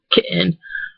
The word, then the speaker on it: kitten: stop in their voice we tend to do that two words like kitten like you know we don't say kitten we say kitten or button you know like you kind of stop your voice a little bit when